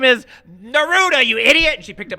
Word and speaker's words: Neruda: looking for and she said his name is Neruda you idiot she picked up a stapler and